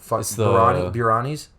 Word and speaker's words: biryani: birani's briana brianna what biryani or brianna bring it because when you spell it it's like a and b-i-r-y-a-n-i so it's birani but there's no h in there in the beginning after the b no